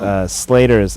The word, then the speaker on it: Sleighter: Twitter and yes well my name is spelled funny it's slater's SL e IG HT er oh my gosh you know like a sleigh ride sir comedy don't like